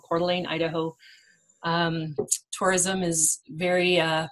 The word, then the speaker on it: Coeur d'Alene: name of that town so what is it again Coeur d'Alene d'Alene I think I've said Deline in the past and people have wanted to slap me you I'm not sure